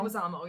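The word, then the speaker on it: Leguizamo: and I have to mention and that's John Legu Zamo. Leguamo Leguisamo. Yeah. I apologize if I said his name wrong.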